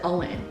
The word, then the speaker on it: OWYN: y n only what you need but they pronounce it all in who knew not me so i'm really excited